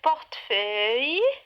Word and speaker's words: portefeuille: Un portefeuille, portefeuille, portefeuille. 3 syllabes.